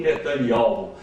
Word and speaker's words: Netanyahu: O ministro de Israel hoje chama-se Benjamin Netanyahu, que se pronuncia Benjamin Netanyahu.